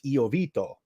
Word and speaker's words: Iovito: to have courtesy oito on and I hope I'm pronouncing your name right I do it the Italian way it's iito okay that's the Italian